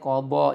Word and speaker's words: qadha: Bacanya qadha, jangan ketentuan.